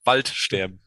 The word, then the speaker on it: Waldsterben: Waldsterben. It's like two words as one word. Wald is forest, and sterben is dying. Waldsterben. That's a perfect German pronunciation.